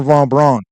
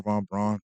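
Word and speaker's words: von Braun: say is uh Warner Von Bron uh or maybe they pres pronounce it brown I think it's brown Warner Von brown but anyway his his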